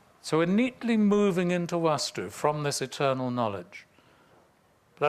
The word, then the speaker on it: Vastu: Now, those of you that have come across it before, you'll see it written either as Vastu with a short A or Vastu with a long A.